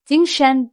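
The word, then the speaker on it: 精神: First tone, jīng, high, steady. And second tone, shén, is a rising tone.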